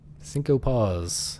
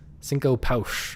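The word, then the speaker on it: Cinco Paus: Cinco Paw. It's actually pronounced Cinco Pouch or something like that. It's in Portuguese.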